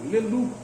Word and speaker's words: Leloup: Termina em P, mas no francês a gente não pronuncia o P. Quer dizer lobo. Leloup.